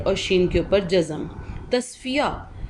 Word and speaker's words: تصفیہ: شین کے اوپر جزم۔ تصفیہ، تے کے اوپر زبر، صاد کے اوپر جزم، فے کے نیچے زیر،